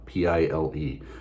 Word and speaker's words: Pile: you'll most likely start your visit at the Pele gate on the west side of the city when you see it written it's spelled pile p-i-l-e but pronunciation is close to pile I'm really not